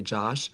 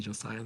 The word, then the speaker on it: Josiah: say my name and they would say Josh. Josh or Joshua. That's like the most common way that people mispronounce my name. They see Josiah. They're like Joshua.